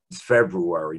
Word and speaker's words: February: been able to since February. Notice both R's in February, I pronounced.